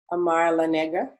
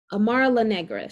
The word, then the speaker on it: Amara La Negra: around what's her name again say it again amar la nega amara la negra she's um i know how to say her